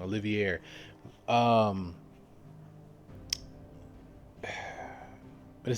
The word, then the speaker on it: Olivier: when uh he read that and it said Oliver has been named Olivier. I'm sorry I'm pronouncing his name wrong. Olivier.